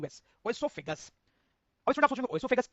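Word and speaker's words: esophagus: Please note two spelling. E एस ओ पी एच ए जी यू एस। ओसोफेगस।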